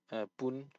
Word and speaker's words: 뿐: Once again, 분, not just pun. Like you need. That's one thing to practice is tense consonants. 하지만 그냥 벌레일 뿐이잖아. 벌레일 뿐이잖아. So 분 needs to be tensed.